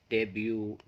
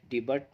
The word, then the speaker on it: debut: समाप्त कर देंगे, और इसे आप पढ़ेंगे डेब्यू। यानी इसका सही प्रोनाउंसिएशन जो होगा वो होगा डेब्यू। आप कभी भी इसे डिबट नहीं कहेंगे, बल्कि क्या कहेंगे, डेब्यू।